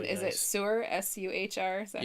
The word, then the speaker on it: Suhr: S-U-H-R?